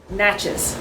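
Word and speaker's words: Natchez: Let me tell you, you got to pronounce it like Mississippians pronounce it. Okay. Naches. Naches. You're saying Nachas. Nachez. All right. Nachas. Come on, Naches.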